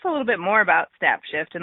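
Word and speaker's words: Snapshyft: little bit more about snap shift and like you said it's spelled with a y in the word shift so s n a p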